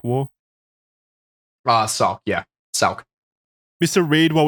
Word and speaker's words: Sauk: How do you pronounce that? Sauk War? Sauk, yeah.